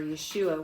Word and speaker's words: Yeshua: leave for Galilee, where Yeshua would meet them. Yeshua is Jesus. That's his Aramaic pronunciation of his name.